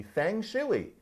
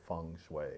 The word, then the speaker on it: feng shui: that if people had talked about feng shui in 1910 it would be Fang chili or something like that now we try to say feng shui as opposed to chop